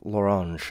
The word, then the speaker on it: L'Orange: come up Loren large like pronouncing the orange in French L'Orange Oh L'Orange okay like